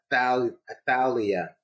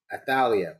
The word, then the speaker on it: Athaliah: She says it is Athaliah. Is that correct? Athaliah.